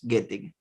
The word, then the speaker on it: Göttig: Gettig lo pronunciamos con la diéresis, pero López, Gottig.